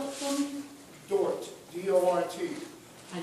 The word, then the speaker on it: Dort: Could you spell it for me? Dort, D-O-R-T.